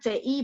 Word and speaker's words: 词: 生词生词, ingat CI bacanya ci, C ada angin, ci, 生词.